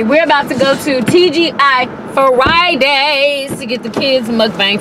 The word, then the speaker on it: TGI Friday: So today we have TGF Friday. I don't know, whatever. TGI Friday. TGI Friday. Yes, thank God it's Friday. That's how you say it.